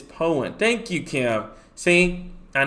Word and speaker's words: Poyen: of the Prattsville area, southeast of Poyen. Excuse me if I pronounced that. That's my first mistake tonight. You got it right. Poyen. Yep. Poyen. There we go. I see. I'm getting pretty good at pronouncing these cities' names here. So right now, just southwest of the Sheridan, Poyen. It's Poyen.